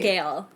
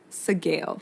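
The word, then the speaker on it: Sgaeyl: you pronounce its name sale sale it's like scale but with a G sale okay I'm going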